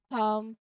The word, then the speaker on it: palm: Moving on to the L silent before an M, consider calm, palm. In both cases, the L is silent and you move directly from the A sound to the M sound. Like calm, palm.